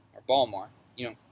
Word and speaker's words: Baltimore: college of art in baltimore or baltimore you know say the t um just like in maryland just like maryland yeah don't pronounce the t no um so so